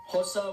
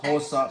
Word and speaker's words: Xhosa: Those are English, Afrikaans, Indebele, Pedi, Sotho, Venda, Xhosa, and that is Xhosa with a click, that's how you pronounce it. Xhosa.